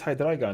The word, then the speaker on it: Hydreigon: And I was like, "It's Hydreigon. It's German." And he was like, "The card's from Germany?"